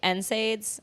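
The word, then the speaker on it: NSAID: so I did that also I can't take nids that's how you say it right I have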